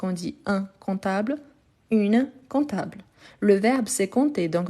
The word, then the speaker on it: comptable: verbe c'est comptter donc n'oubliez pas qu'il a le P mais on ne les prononce pas donc un comptable mais pour écrire il faut toujours écrire avec le P un comptable OK parfait